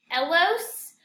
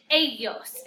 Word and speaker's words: ellos: A lot of you are saying Ella and Elos. Remember, your double L makes a Y sound in Spanish. So ella and ellos. And you're going to be using those a lot throughout Spanish. Ella, ellos, ellas.